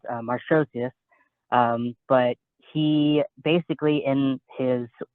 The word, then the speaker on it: Markosias: So how you actually pronounce it is Marshosius.